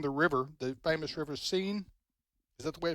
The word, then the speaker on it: Seine: teams coming down the river, the famous river Seine. Is that the way it's pronounced? Seine River.